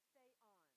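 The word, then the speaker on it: θεόν: It's not theos, but it's what? Theon.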